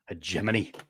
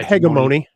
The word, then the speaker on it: Hegemony: Hegemany, in case you weren't sure how to pronounce that word, Dan. Um, it's not hegimony.